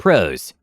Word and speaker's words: Proez: HentaiGuy boots up the computer and starts blitzing through the names One match, a professor at the university, last name Proez (pronounced prose). Tex is immediately unhappy for